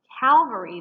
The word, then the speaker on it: Calvary: are words that are often confused in their pronunciation calvary this is a proper noun and it refers